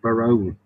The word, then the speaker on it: Barone: Baron with an E on the end of it to make it sound posh.